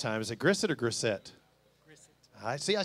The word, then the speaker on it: Grissett: Is it Grissett or Grissett?